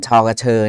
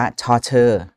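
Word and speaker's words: ฌ เฌอ: เช่น ชอ กระเชอ เนี่ย สมัย ที่ ผม เรียน เอง เนี่ย ก็ ท่อง มา ว่า ชอ กระเชอ นะ ซึ่ง ความ จริง กระเชอ เนี่ย มัน สะกด ด้วย ช ช้าง นะ ไม่ ใช่ ตัว ช เฌอ นะ ครับ แต่ ใน โบราณ เนี่ย เขา สะกด ด้วย ช เฌอ จริง ๆ นะ ครับ ไม่ ไม่ ได้ ผิด ปัจจุบัน เรา ก็ เลย มัก จะ ให้ เด็ก อ่าน ว่า ช่อ เฌอ ดี กว่า เพราะ มัน ตรง ความ หมาย มาก กว่า เพราะ คำ ว่า เฌอ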